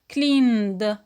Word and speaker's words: cleaned: In the past, it becomes cleaned. Cleaned. And it is only one syllable.